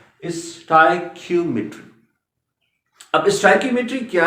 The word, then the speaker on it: stoichiometry: अक्सर इसको miss pronounce किया जाता है और इसका जो सही प्रोनाउंसिएशन है इस टॉपिक का, इस टर्म का, दैट इज स्टोइकियोमेट्री। ये इसकी करेक्ट प्रोनाउंसिएशन याद रखिए बेटा, स्टोइकियोमेट्री।